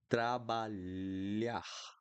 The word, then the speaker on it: trabalhar: So, trabalhar, trabalhar, trabalhar, million, million, million, trabalhar. Okay, trabalhar is to work, but every time that you see LH, you're going to pronounce like this.